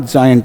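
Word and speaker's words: giant: जी आई ए एन टी, ये इसका उच्चारण जाइंट होगा।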